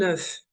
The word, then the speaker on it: œuf: Si c'est en œuf, on prononce la lettre F. Mais s'ils sont des œufs, le F ne se prononce pas.